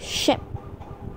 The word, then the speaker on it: ship: chicken next we have ship ship it's a ship as in the Titanic ship has a shot it sound and sheep has a long e sound next ice the correct